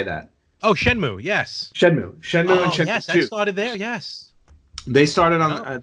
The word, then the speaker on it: Shenmue: how do you say that oh Moo yes Shenmue yes yes they started on they started on